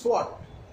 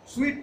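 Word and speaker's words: sweat: Starc STUCK stuck to দ্য সোয়াট, এটা হচ্ছে সোয়াট, উচ্চারণ হবে সোয়াট। সুইট না, কিন্তু সুইট হচ্ছে মিষ্টি, ডবল ই হলে এখানে ই এ আছে, এটা হচ্ছে সোয়াট ঘাম।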